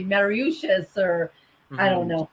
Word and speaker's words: Mauritius: Mauritius.